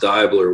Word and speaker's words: Deibler: I mean, it's pronounced Deibler, which is like the German pronunciation.